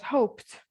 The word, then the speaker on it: hoped: For example, hope plus ed will be pronounced as hoped.